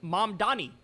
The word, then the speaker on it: Mamdani: It's Mamdani, Mamdani.